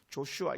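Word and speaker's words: Joshua: 신약으로 말하면 예수에 예수 예수를 구약에서 여호수아 그래요 조슈아 이렇게 영어로 그렇게 발음하는데 예수 어이 여호수아는 아 여호와께서 구원하셨다 하는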